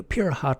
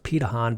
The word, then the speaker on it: Pirahã: to focus on in this video is the pure hot tribe actually pronounced petahon but I just perhaps looks how it would